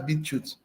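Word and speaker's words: BitChute: going on go to beetroot when you go to beat you to find out more videos is spelled as b i t c h u t e that's beetroot you go there and then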